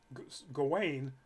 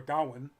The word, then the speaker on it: Gawain: the idea that um there was uh the main character um Gawain or Goin because it's pronounced in the Irish way or the Celtic way um in the movie